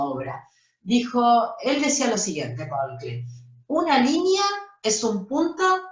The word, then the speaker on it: Paul Klee: Pronuncia bien, no se dice Paul Klee, ¿eh? Paul Klee.